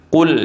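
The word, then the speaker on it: قُلْ: qul ya ayyuhal kafirun pertama menggunakan qof. Q ya ayyuhal kafirun. Katakanlah wahai Muhammad kepada orang-orang kafir dibaca menggunakan kaf. Qul ya ayyuhal kafirun. Qul ya ayyuhal kafirun artinya makanlah wahai Muhammad orang-orang kafir. Ini maknanya salah.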